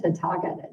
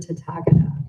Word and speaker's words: Tathagata: Tathagata?